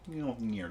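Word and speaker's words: Mjölnir: Mjolnir. You gotta say it like that.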